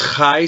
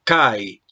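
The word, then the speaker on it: καί: La capa, recuerda que esta es la capa y se pronuncia como una K nuestra, de manera que no dices jai, sino kai.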